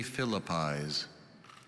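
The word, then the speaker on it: philippize: jelly beans and bacon are there any alternate pronunciations only philippis philippis p h i l l i p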